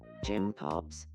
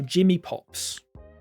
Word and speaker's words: Jimmy Pops: Jim Pops, you seemed... No, Jimmy Pops. Hey, Jim Pops. No, Jimmy Jim Pops. Good afternoon. He's not pronouncing the me.